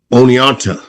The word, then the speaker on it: Oneonta: He went to the University of New York of Oneonta.